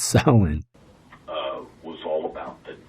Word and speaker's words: Samhain: golden sickle and this festival of samhain not hayne this isn't glenn danzig's band it's pronounced silent uh was all about the dead and it